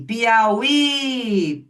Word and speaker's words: Piauí: Em Piauí, o falso hiato está na última sílaba.